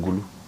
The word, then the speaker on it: Gulu: And I thank him for pronouncing Guru very well. Some people call it Guru. When somebody calls it Guru, investigate the DNA.